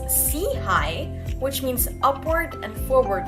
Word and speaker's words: SIHI: initiative SEI for short pronounced as SE High which means upward and